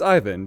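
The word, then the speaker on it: Iver: him heycon and even I called him even and it's Ivan so I'm glad I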